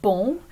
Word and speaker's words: bon: And notice that the word bon is a perfect example of a nasal vowel sound. So when you pronounce that sound, you should feel some sound waves or kind of vocal vibrations traveling through your nose.